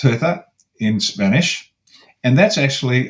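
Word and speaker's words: Ceuta: Uh, it's called uh thuta thuta. It's spelled, let me get this right, cu ta. Cut ta, but it's pronounced thuta in Spanish.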